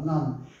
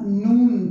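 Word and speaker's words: نان: É a mesma palavra, non. Só que No Irã, a gente fala nun para isso também. Às vezes o O se transforma em um, né? Irun, Irun, Tehran, Tehrun, Tehran, vira Tehrun.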